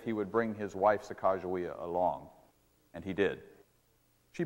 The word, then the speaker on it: Sacagawea: you will see that her name should be pronounced Sacagawea let me say a